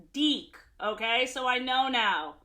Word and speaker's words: DIC: for destroying DIC entertainment which I learned from the Care Bears video is actually pronounced deck okay so I know